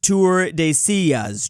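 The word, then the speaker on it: Tordesillas: It's pronounced Tour de Sillas, Drew.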